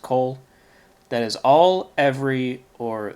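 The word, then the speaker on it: כל: key that or because Cole and this is pronounced Cole also it's just spelled with a comets but they're both pronounced Cole that is all every or the whole next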